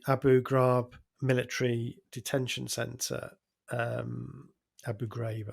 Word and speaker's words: Abu Ghraib: One of the cases that Zimbardo helped with as a witness was at the Abu Ghraib military detention center, Abu Ghraib, I think it's pronounced, in Iraq, where some of the US military were abusing and treating very badly the prisoners there, some of them.